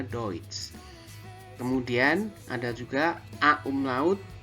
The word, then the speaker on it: Deutsch: Kemudian eu ya, eu bacanya adalah oi. Seperti dalam kata Deutsch ya, tulisannya Deutsch tapi bacanya Deutsch.